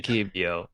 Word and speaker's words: Keebio: It's definitely Keebio.